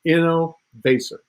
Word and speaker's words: Innovaccer: how to pronounce it it's a combination of the word innovation and acceleration so it's inno basic started about six years